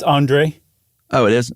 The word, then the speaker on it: Andrzej: She met a guy named how would you pronounce that? It's Andre. Oh, it is? Andre Kowarski.